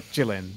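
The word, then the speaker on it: Qilin: depending on who you ask, it's either a yellow dragon or a yellow Kirin, or Jilin, if you're going through the Chinese pronunciation, which is fair, considering that's where it's from.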